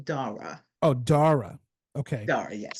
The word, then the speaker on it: Dara: And just so you know, and for your audience, I pronounce my name Dara.